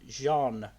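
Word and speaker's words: Jeanne: i should point out it's john in terms of the french pronunciation john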